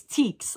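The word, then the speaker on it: Tieks: She told me in parentheses how to say it. It's teaks.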